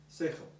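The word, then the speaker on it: שכל: Yes, sin chet lamed, sechel.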